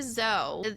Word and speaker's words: Dzo: So, why Zo? It's spelled DZ DO.